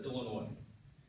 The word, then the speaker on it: Illinois: other state that has a silent s that's Illinois horrible weather high unemployment